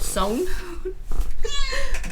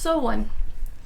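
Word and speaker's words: SONE: but like I said I always thought the fandom name was called Zone this whole time evidently according to this is pronounced so one so I've been confused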